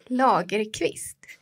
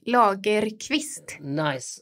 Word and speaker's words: Lagerquist: Lagerquist. Lager. It's like drinking a lager with a quist on the end of it. Yeah, kind of. But you pronounce the letters more, like Lagerquist.